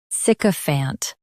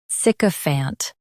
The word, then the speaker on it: sycophant: Both US and UK have the same pronunciation of this word, sycophant. Now read the syllables shown on the screen naturally. Sick, fant, sycophant. Stress sick and keep a fant light. Sick, fant, sycophant.